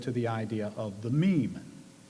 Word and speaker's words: meme: will forgive me if i abbreviate my meme to mean if it is any consolation it could alternatively be thought of as related to memory or to the french word ming it should be pronounced to rhyme with cream now this is hardly